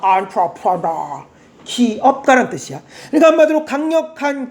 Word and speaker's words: entrepreneur: 그래서 강세가 너에 있습니다. entrepreneur 기업가란 뜻이야.